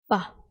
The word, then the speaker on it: ba: That is ba. This one is a labial sound, and it's also explosive sound.